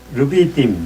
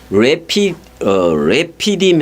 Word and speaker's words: 르비딤: 르비딤. 원래는 레피딤 해보세요. 레피딤. 네, 맞아요. 그렇게 발음하면 돼요. 르비딤이 아니라 그 한글 저거고 레피딤 그래요.